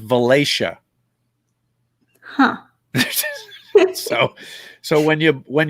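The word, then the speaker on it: Valatie: town near us it's spelled v-a-l-a-t-i-e v-a-l-a that's pronounced valacia huh so when you when you blow into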